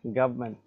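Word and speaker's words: government: বাই দা গভর্মেন্ট গভমেন্ট মূলত গভর্নমেন্টটা গভমেন্ট উচ্চারণটা হচ্ছে গভমেন্ট বাই দা গভমেন্ট fine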